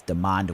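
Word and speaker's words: Demond: oh thank you Decker it's not Damon's demand Williams okay thank you thank you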